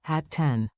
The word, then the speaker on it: hatten: Keep the double T crisp. Hatte, hattest, hatten. Say it with me. Your tongue is the drummer, short, tidy beats.